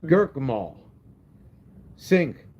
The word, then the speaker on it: Gurkamal Singh: Gurkamal. Singh. Yeah, the H is silent. Gurkamal Singh.